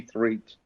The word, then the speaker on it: Threatt: So it's a pleasure to welcome Threatt, hope I'm pronouncing it correctly, to today's show. Welcome. Thank you very much for having me. And it's Threat, not Threatt. Threat.